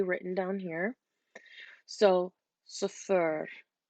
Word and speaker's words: صفر: So صفر. And the double R is just to remind you to roll your R.